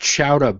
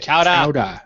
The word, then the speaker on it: chowder: And it's pronounced Chowda, by the way. Chowda.